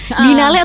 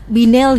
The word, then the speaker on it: Biennale Jogja: Binale atau Binel gitu bacanya nih juga agak rancu ya. Agak rancu ya. Enggak rancu, sebetulnya itu semua benar kok.